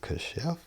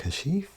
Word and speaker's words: Kashif: I know when people get my name wrong, they be like, "Kosef." I'm like, "Kashif."